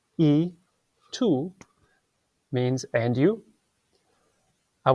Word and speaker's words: y: with the letter y the letter Y by itself is actually the word and in Spanish so that's those two words it's pronounced e to means and you